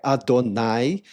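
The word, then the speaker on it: אדני: Segundo, porque a pronúncia dessa palavra no hebraico é Adonai, que até a pronúncia parece com a palavra dono.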